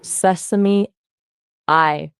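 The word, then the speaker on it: Sesame AI: It's actually sesame.ai, pronounced like sesame I. Think of the sesame, like the yummy.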